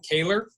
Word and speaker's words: Kaler: let her introduce herself I'm gonna guess that her name is Kaler that's that's gonna help how I would pronounce it nice good good job Dan I'll let her introduce hi my name is and I can't believe you got my last name right that's a not a